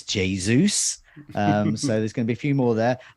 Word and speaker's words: Jesus: that not harland and not jesus it's jesus um so there's gonna